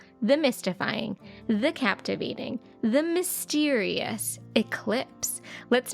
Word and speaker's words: eclipse: this word written down down in Spanish it is spelled exactly the same as it is in English eclip eclip excellente that is Eclipse before we go